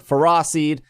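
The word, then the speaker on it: Ferroseed: and roller drill bird fera seed yes i'm saying it right you are all saying it wrong and clean the following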